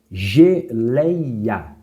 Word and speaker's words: geleia: Exemplo, geleia. Geleia. Nós vemos que a mais forte é essa sílaba aqui, ó. Então nós temos a última, que é o A, a penúltima, que é o lei, e a antepenúltima, que é o gé.